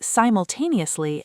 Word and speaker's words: simultaneously: Similarly, simultaneously has stress on the fourth syllable.